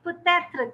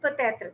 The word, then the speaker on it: peut-être: They pronounce it peut-être. There is a difference between peut-être and peut-être. So we have to, when